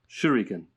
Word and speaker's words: shuriken: yeah totally you know how do you pronounce it andrew shooty ken shuriken sure yeah you sure he can uh so i mean